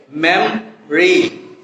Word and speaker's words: memory: এখানে ওটাকে যদি আমরা ড্রপ করে দিই তাহলে কেমন উচ্চারণ হবে? memory.